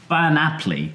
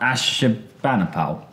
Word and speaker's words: Ashurbanipal: Ashurbanipal, which is not Ashurbanipal. Oh, that's the point, yes. Well, Ashurban or Bani Apli is the proper Akkadian name, but he's always called Ashurbanipal, and all these names go through a bit of distortion over time, one way or another, but actually Ashurbanipal is perfectly acceptable.